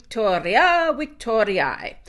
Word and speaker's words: victoria: gives us our stem I said Victoria that's the classical pronunciation with the Hua sound but if we said